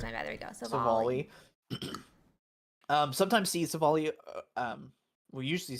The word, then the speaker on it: Silvally: someone else said, I heard someone say Civalli, and I was like, oh. Silvally is how it is. My bad. There we go. Silvally.